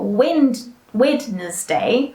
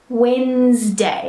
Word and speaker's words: Wednesday: what we're looking at the pronunciation which is not wind witness day right see I can't even say it the wrong way it's Wednesday all right another one